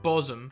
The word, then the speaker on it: Bosham: So they're essentially spelt the same. The only letter that's different is the C and the B. But one is called Bosom with an SH in the middle, and the other one is called Cosham.